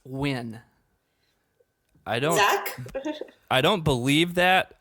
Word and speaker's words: Nguyen: It's actually pronounced Nguyen. Nguyen. Nguyen, yeah. So it's think I Dee was the Nguyen. So the closest. G is sort of silent. So Jake was the most wrong because he said win.